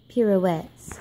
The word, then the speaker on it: pirouettes: And we do many pirouettes.